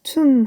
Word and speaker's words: tomb: tomb 하면은 M 다음에 나오는 B는 묵음이에요.